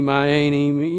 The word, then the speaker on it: Myane: origin of my name it is spelled m y a n e it's not the m a y it's not main it's my a um I've been called all kinds of things meani my Annie yeah it doesn't doesn't